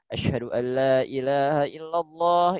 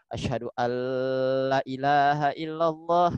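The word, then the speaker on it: أشهد أن لا إله إلا الله: Anna muhammadarasulullah mammasulullah nah di dalam pengucapan azan di syahadat ya banyak ee di antara kita yang suka EE suka salah di ee pengucapannya ya terutama di dalam lafaz Ashadu Alla ilahaillallah nah asadu Alla ilahaillallah Sering kali kita membaca gini asadu allaahaillallah nah gitu itu ee merupakan ee kesalahan yang EE cukup fatal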